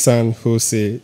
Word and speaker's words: San Jose: It's pronounced San Jose. The letter J is pronounced as H in the United States.